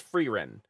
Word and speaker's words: Frieren: I've never been able to pronounce that. I think it's Frieren.